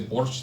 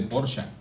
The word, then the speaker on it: Porsche: yo no un porsa dicen los alemanes que no se dice Porsche se dice porsa Bueno yo no hablo